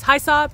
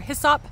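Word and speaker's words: hyssop: to you about so this is high sop or hysop ing on how you pronounce it so this is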